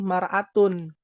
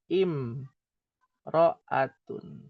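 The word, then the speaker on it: امرأة: alif lam harusnya jadi maratun. Harusnya tuh maratun ya harusnya mar atun ya. Tapi tidak dibaca mar'atun, tapi dibacanya im roatun.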